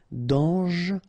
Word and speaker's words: dangereux: Dangereux, final X not pronounced, and then don't really pronounce this E here, okay, so you get dangereux, dangereux.